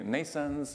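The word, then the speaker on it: NNAISENSE: complexity of human thinking we have a company Nason's which is pronounced like births Neeson's but spelled in a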